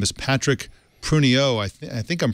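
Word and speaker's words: Pruniaux: His name is Patrick Pruniot. I think I'm pronouncing that right. You're in Montreal, Rene. Ritchie, am I pronouncing that correctly? Pruniot, I think.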